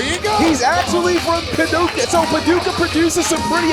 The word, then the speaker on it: Paducah: Sid Ellington from Paducah, Kentucky.